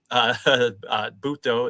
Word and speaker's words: Butto: My friend Jose Butto, Butto is how it's pronounced. I've been pronouncing it wrong. It is Butto.